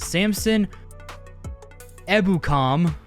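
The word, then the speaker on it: Samson Ebukam: are these guys names uh javon kinlaw and samson ebucom that's how it's telling me it's pronounced uh they are also questionable so the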